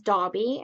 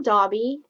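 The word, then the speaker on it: Daubie: the group one is dragon mom who is dobby and she is from south dakota and she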